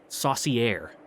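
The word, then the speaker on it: Sorcière: the r in there how to pronounce in French ie Saucy air very another opinion in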